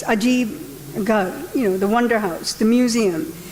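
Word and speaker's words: Ajaib-Gher: Well, it's spelled Ajib Ger, but it's Ajib Gar, the Wonder House, the museum.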